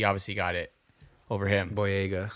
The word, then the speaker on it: Boyega: For that bodega character, that guy, he obviously got it over him. Boyega. Boyega, that's how you say it.